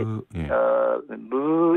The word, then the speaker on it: ㅱ: 그런데 그거를 조금 더 가볍게 입술을 약간 이렇게 무 이렇게 하시면 됩니다.